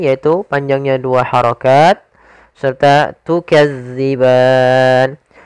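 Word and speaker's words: تُكَذِّبَانِ: panjangnya dua harakat serta tukadziban hati-hati dalam melafalkan Za jangan dibaca dengan Zai karena nanti merubah maknanya tukazzi makhrajnya agar sempurna kita lafalkan dari ujung lidah kita menempel dengan gigi di atas kemudian pada lafal ban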